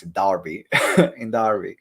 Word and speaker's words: Derby: still need to find the right way to pronounce it, Derby, in Derby. Just remember, it's an A, not an E. It's an E, but just in Exactly, Derby.